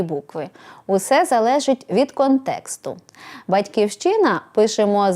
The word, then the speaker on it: батьківщина: народилися громадянами якої є вимовляємо з наголосом на першому або на передостанньому складі як у Ліни Костенко в дитинстві відкриваєш материк котрий зветься потім батьківщина батьківщину також пишемо з